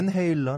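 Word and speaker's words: Van Halen: 벤 헤일런 아니에요? 벤 헤일런이라고 읽어도 되나요?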